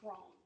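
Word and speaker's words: Croghan: Cone, K R O G H A N, but pronounced Cone.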